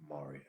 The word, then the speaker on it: maria: Anyhow, that's just one of the Maria. That's how you say it in plural. Maria.